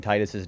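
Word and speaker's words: Tidus: But as I always say, I always pronounce it Titus. You can pronounce this Tetus.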